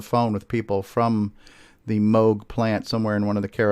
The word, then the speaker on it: Moog: soft G, Moog.